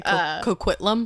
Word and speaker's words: Coquitlam: That's also fun to say, Coquitlam. And then she said, "You pronounced it correctly, and that gives me so much joy.